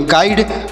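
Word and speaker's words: guide: जी यू आई डी ई, तो जी यू से पढ़ेंगे ग, आई का उच्चारण ई होगा, यानी आई का उच्चारण आई होगा, और डी ई से ड, जिससे पढ़ेंगे गाइड।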